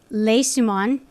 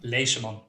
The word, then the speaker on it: Leseman: everyone listening we have been speaking with jim les dumont i i always butchered we were talking before we got started